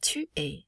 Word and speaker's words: tu es: Notice how il est and tu es sound exactly the same, because again, we do not pronounce the final consonant of that word.